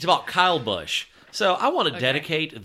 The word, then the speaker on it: Busch: headline it's it's short it's called beating around the bush but spelled like the beer beer but it's not